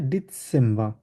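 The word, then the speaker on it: Dezember: October নভেম্বর ডিসেম্ব ডিসেম্ব এটা যেহেতু সেট এজন্য এস এর মত উচ্চারণ হবে তাহলে কি হবে ডিসেম্ব ওকে আচ্ছা কেউ ট্রাই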